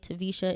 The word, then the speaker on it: Taversha: The name is spelled T as in Tom, A, V as in Victor, E-R, S as in Sam, H-A, Taversha. It's spelled Taversha.